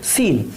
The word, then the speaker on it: scene: तो सीन में हम देखेंगे तो ये जो सी है, सी साइलेंट है, इसको सीन बोला जाता है, इसको स्कीन वगैरह ऐसा कुछ नहीं बोला जाता।